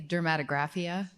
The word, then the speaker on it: dermatographia: So, what's the exact pronunciation? I say dermatographia.